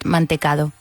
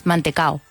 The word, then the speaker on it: mantecado: No one ever has said mantecado. It's mantecao. Mantecao. Even the D's there, no one has ever pronounced it.